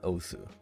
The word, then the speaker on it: osu!: spoke slight tangent but i'd like to point out that it's also not osu that's a big difference i'm also aware that it's officially pronounced us but i'm not gonna do that unlike my last video